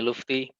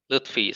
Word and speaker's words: Lufthi: name is lufthi my friends usually call me lufty it's not luthi so if you can